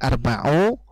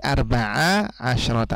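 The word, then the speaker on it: أربع عشرة: dua bagian adat ini jadi bukan arbau bukan arbae tapi Arba asrota artinya kalau kemasukan mint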